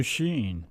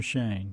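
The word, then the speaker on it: Schoen: Joe Sheen. Coming from. Is that how you pronounce it? I saw it. Shane, I think. Joe Sheen or Shane? Shane. Joe Sheen or Shane. Joe Shane.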